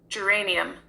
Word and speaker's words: geranium: know how to pronounce or know the definition is spelled g e r a n i u ms and this is how it is pronounced geranium geranium kind of seemed like I heard that